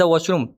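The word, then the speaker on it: washroom: इसकी एग्जांपल है where is द वाशरूम? Where is the exit. जो वाशरूम है यह वाशरूम नहीं है। वाशरूम थोड़ी सी ओ की आवाज है वॉशरूम।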